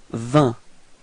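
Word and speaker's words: vingt: Okay, so final T and then G is coming before are not pronounced, so the sound is 20.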